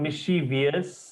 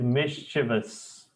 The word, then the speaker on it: mischievous: once more misch true it is not mischievous it is mischievous not vs mishas remember